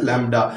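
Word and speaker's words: λ: इसको सिंपलाइज हम Greek letter लैम्डा से करते हैं, प्रोनाउंस है ऐसे लैम्डा, वो मैंने लिख भी दिया।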